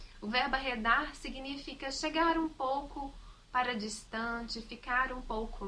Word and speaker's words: pouco: A palavra pouco, a gente fala pouco, quero um pouco de açúcar, por favor. Não pronunciamos a vogal U.